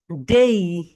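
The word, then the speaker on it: day: আজ থেকে তোমরা ডে বলবে না, ওকে, এটাকে বলবো ডেই।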